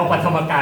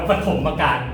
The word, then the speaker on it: ปฐมการ: ชื่อ ไม่ ผิด มัน ไม่ ได้ อ่าน ว่า ธรรมการ มัน อ่าน ว่า ปฐมการ แห คน เรียน ภาษา